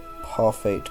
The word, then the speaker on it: Parfait: Parfait Girls. I don't think you're supposed to pronounce the T.